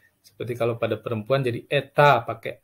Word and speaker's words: это: Seperti kalau pada perempuan jadi eta pakai a, kalau laki-laki muskoirat menjadi etet pakai t. Nah, ini kalau karena netral dia menjadi eto ya, dibacanya eta juga, eta bukan eto ya.